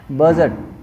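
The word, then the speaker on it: budget: जी silent है, बजट, बजट, ठीक है, सॉरी यहाँ पे डी साइलेंट है, बजट।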